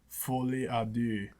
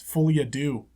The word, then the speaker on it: folie à deux: say it in French, but it's something like folie à deux. And I don't know if folie is like folie or just folie, but no one's going to bother saying that. It's folie à deux.